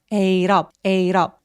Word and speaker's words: ate up: 근데 여러분 여기서 발음이 참 어려운 게 있는데 뭐냐면 we ate up 할 때 t가 모음사에 끼었기 때문에 water 할 때처럼 굴러가요. ate up 혹은 ate up 하셔도 돼요.